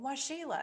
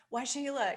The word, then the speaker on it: Waxela: while to get it if you see it written it's spelled kind of strangely so why shayla you don't know me